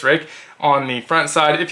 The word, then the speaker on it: Ruike: believe that's a pronunciation not ruik I'm pretty sure it's Rick on the front side